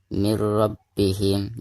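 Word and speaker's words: مِن رَّبِّهِمْ: ini Gom bilagunnah ya jadi cara membacanya mirrobbihim Jadi bukan dibaca ini robbihim tetapi dimasukkan untuk punya ke huruf roknya ya mirrobbihim seperti itu dengan tidak ada demung ya size by contoh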